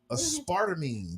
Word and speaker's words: aspartame: Aspartame. That's how you say it? Yeah. Sound like aspirin.